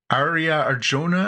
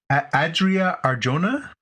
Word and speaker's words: Adria Arjona: and the love interest in this is uh Arya Arjona I I'm sorry I'm sure not saying her name right um yeah how do you say her name here Adria Arjona who she was uh Bix in Andor so